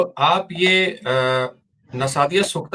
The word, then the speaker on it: नासदीय सूक्त: नासदिया सूक्त. ओह, आप जिस चीज की बात कर रहे हैं वह वेदों में वर्णित नासदीय सूक्त है ; आप नासदिया सूक्त का सही उच्चारण नहीं कर रहे हैं, जैसा कि हम...